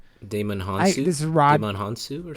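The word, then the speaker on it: Djimon Hounsou: I think the J is silent. Damon Hansu.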